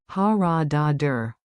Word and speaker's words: Haradadır: Pronunciation beat. Clap with me. Rhythm makes memory sticky. Ha ra da dur. Ta ta ta ta.